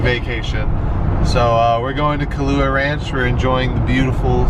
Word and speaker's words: Kualoa: Is it pronounced Kualoa Ranch? Kualoa. Kualoa.